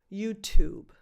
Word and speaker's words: YouTube: I guess, is that you try to pronounce that syllable, that T plus vowel combo, as the number 2, YouTube. Think of the name of this very famous band and add a very light B sound at the end, YouTube.